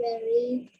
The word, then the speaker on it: very: Those V's you really have to work on and think about because you still want to say the W sound for a V sound.